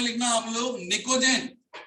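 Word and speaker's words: pnictogen: Carbon family के बाद में लिखना आप लोग निकोजेन, निकोजेन की स्पेलिंग पी से स्टार्ट होती है, PNICOGEN, निकोजेन।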